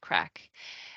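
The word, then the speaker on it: craic: crack and it's um it's spelled like this but it's pronounced like the English word crack and um it's probably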